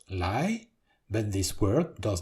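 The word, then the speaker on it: 来: and there is the word to come, also pronounced lai, but this word does not have its own character yet.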